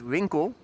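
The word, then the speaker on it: winkel: Winkle means store. W I N K E L. That's the Dutch word for store. Pronounced Winkle.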